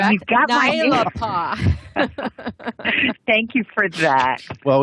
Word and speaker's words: Naelapaa: Yes, and aren't you proud we pronounced your name right, correct? And you've got Naelapaa.